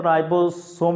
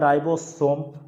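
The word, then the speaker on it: ribosome: राइबोसोम भी पढ़ते हैं ऐसे राइबोसोम। इसको प्रोनाउंसिएशन करते हैं तो राइबोसोम ही पढ़ा जाता है। राइबोसोम।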